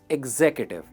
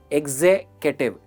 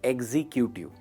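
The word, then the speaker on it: executive: जैसे for example, I एम an accountant या आई एम a sales एग्जीक्यूटिव। दोस्तों, इसकी प्रोनाउंसिएशन है एग्जीक्यूटिव एंड नॉट एग्जीक्यूटिव, एग्जीक्यूटिव।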